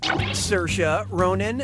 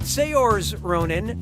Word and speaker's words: Saoirse Ronan: yeah sure you do how do you pronounce her name Saoirse Ronan Saoirse Ronan say yours Ronan or see your eyes Ronan okay what'd you pick don't even look Saoirse says that's the correct way to say her name now when you run